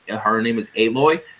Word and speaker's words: Aloy: Aloy, yeah, Aloy is how you pronounce her name.